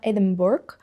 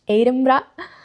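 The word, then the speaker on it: Edinburgh: So yeah, the pronunciation is important. It's not Eden Borg, it's Edra.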